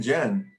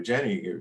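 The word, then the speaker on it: Jenne: in their character ken jenn who i consider to be or jenny depending on how you like to pronounce his name who i consider to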